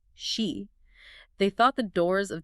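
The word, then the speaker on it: sídhe: Ancient burial mounds, certain hills, they called them seed mounds, pronounced she.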